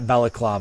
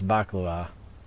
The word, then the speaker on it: baklava: someone say it yeah I believe it's baklava bav it is not balaklava Bava it might be balaklava I'm pretty sure it's baklava is Russian is it